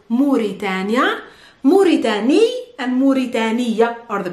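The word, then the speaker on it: موريتانيا: I think you've been pronouncing it well because it's Mauritania or Mauritania, but in Arabic it's Mauritania.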